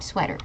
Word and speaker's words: sweater: next one sweater mm sweater it's a short e sound sweater very good uh